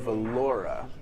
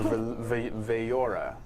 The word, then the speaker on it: Valora: And you know that it's headed up by someone named Valora, or Vayora, actually is how you would pronounce that. I tried reading it and realized Vayora, yeah, it's 2 L's.